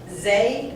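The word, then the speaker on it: Xay: Oh, Zay? no. He's the chairman of the Providence Water Authority, and I believe it's Zay, X-A-Y.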